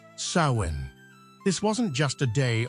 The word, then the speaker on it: Samhain: pivotal event for them the Festival of swin pronounced sawin this wasn't just a day on the calendar